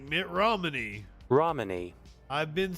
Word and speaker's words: Romani: Romani. Okay, fair enough. Like Mitt Romney. Romani.